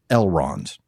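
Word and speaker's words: Elrond: So, for example, names like Elron, right? It's all it's going to fall on the first syllable, not in longer words,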